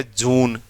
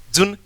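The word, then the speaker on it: June: बोलूं या ऐसे बोलूं, देखो जुन जून, जुन जून, तो आपको क्लियर पता लग रहा है कि लॉन्ग साउंड है, यानी बड़ा ऊ आएगा, कोई दिक्कत नहीं है।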